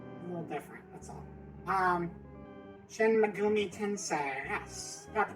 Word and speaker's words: Shin Megami Tensei: Shin Megumi Tensei. Yes, got the pronunciation right and everything.